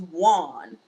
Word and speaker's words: won: So the way I pronounce it is won. I won the game. Okay, won. Okay, WON. I pronounce it won. Most people pronounce it won. I won the game. How is a non-native speaker gonna know or differentiate between you saying one and the number one?